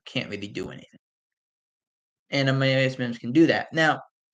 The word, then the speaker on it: Amarius: A lot of people saying Amarius, it's Amarius. It's how he says it, it's Amarius. Unless he's changed the pronunciation of his name, it's been Amarius. Mims.